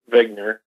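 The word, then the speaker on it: Wigner: the name of zner it's actually like he just spelled with a W uh but he's a his name is Dr Eugene vigner and originally back in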